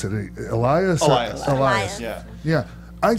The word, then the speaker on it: Elias: Hey, and okay, as far as how do we pronounce it? Elias.